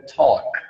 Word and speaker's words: talk: Que é o verbo talk. Que o L é mudo também, tá, pessoal? Talk. Como que fica?